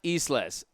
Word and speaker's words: Isles: Oh, John Isles. Pronunciation is Isles as in islands. So John Isles.